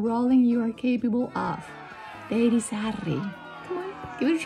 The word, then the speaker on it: Deirisarri: Now, it sounds completely different in Spanish. Mi nombre es Deirisarri. Yes, with all the tongue rolling you are capable of. Deirisarri.